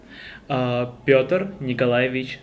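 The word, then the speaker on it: Пётр Николаевич: yeah the last those two letters whitey the pronounced like yeah question oh yeah Pyotr Nikolayevich petrucha oh sorry one more time Pyotr Nikolayevich Soren a nickname is petrucha no no the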